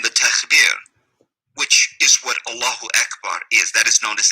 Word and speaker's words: Allahu Akbar: the hijackers were screaming Allah Akbar, which is not how you say it. It's Allahu Akbar.